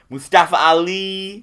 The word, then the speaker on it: Mustafa Ali: We already talked about him, but I think when everybody heard that Daniel Bryan was going to be facing Mustafa Ali.